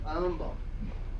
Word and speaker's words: Humble: also he said no humble is not pronounced humble it's pronounced Umble I said I suppose